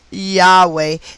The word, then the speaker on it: Yahweh: the math for the numerical value of yhwh pronounced yahweh and written in hebrew as yod hey hey